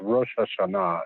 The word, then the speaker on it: Rosh Hashanah: It's Rosh Hashanah is the proper pronunciation. No, we But said Rosh Hashanah over here.